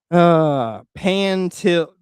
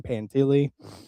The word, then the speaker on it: Pantile: I'm reading pantile, so it's just where it's the pronunciation. It's like I'm envisioning it's two um, syllables, not three.